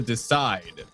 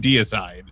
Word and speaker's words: Deicide: um Morty was actually insisting that it is in fact pronounced the decide. The decide if you misspell it purposely. This is not the case. Daniel actually does mean deicide.